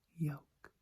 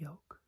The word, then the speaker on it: yolk: Yolk. Yolk. Yolk. Yolk. Yolk. Yolk. As in egg yolk, but also as in a yoke that is used for oxen or horses to pull carriages. So, yoke.